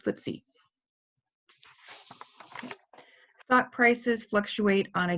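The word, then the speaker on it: FTSE: ke e I and England has what's briefie ated as ft/s e and as sometimes sometimes called footsie stock prices fluctuate on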